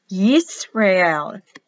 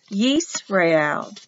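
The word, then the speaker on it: ישראל: Yisrael. Yisrael.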